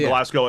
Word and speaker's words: Glasgow: No, it's called Glasgow.